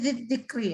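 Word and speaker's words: ذكري: Jadi bacanya tipis saja. Ini bukan zil. Ini harusnya zikri ya.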